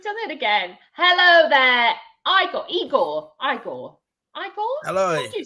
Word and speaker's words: Igor: Hello there, Igor. Hello. What did you say? There you go, mate. Igor. Thank you very much. Igor. Tell us, is it Igor or Igor? Well, it's an I, not an E.